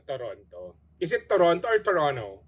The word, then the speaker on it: Toronto: is it Toronto or Toronto It's Toronto Wow Ang daming silent letters naging two syllable so mga kem natin